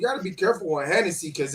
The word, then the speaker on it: Hennessy: Hey, you know what they say, you got to be careful with Hennessy because it rhymes with enemy face.